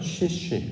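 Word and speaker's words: שישי: 자, 여섯째 날로 번역된 단어 중에서 여섯, 히브리어 원문은 발음을 쉬쉬 이렇게 발음합니다.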